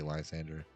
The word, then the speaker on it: Lysandre: I personally would think it's the way it's spelled Lysandre, but some people say Lysander. Lysandre, even.